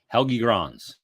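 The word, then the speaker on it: Helge Grans: I had to ask Bill for help it's helgigrons helgi Gras I'm not kidding you when I got the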